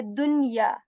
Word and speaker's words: دنيا: Okay, so we will just say dunya. I will pronounce the sound of noon here.